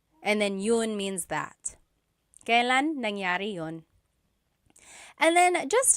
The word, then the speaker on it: kailan: And then just a pronunciation tip, it's pronounced kailan, kailan, but you will often hear it pronounced kailan, kailan. Kailan ang kasal? Kailan ang kasal? But it's not wrong to hear kailan ang kasal. It's a little bit more formal. Okay.